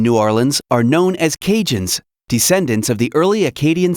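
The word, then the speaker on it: Cajun: Some of the people in New Orleans are known as cinjun, descendants of the early Aadian settlers. The word kinjun comes from the way they pronounce Acadians.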